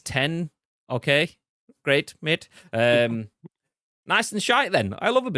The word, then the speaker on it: X: 8 iPhone 10 but it's an X but you pronounce it as ten okay great mid um